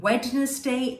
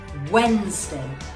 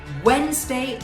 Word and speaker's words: Wednesday: just say that out loud did you say wednesday if you did i'm sorry that's wrong but that's a very common mistake the d hair is silent so you would be saying wednesday wednesday is the correct pronunciation for this word okay